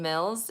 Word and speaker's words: Mills: this has been fun my name is Mills it rhymes with bills you know the one